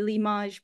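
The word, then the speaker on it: L'IMAGE: And as Noor said, I am the principal investigator of the Limage project, pronounced the French way.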